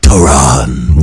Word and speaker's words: Tehran: It's like Tehran. Yes. I like to say it like that. It sounds more. Yeah, or it sounds more throaty when you do that. It's a lot more throaty.